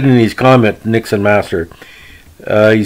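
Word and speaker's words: Niksen Master: The great follower of our channel, Nixon Master, or Nixon Master, depending how you want to pronounce it, N-I-K-S-E-N Master, really appreciates the obscure podcasts we're doing.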